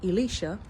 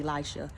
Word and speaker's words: Elisha: from the prophet Elicia um and I'm saying Elicia cuz I learned that's the correct pronunciation but we are used to saying Elisha but upon one of these visits right um